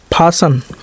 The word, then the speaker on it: fasten: FASTEN, फासन।